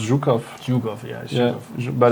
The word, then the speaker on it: Zhukov: No, we write write with a J like because it's pronounced Zukov.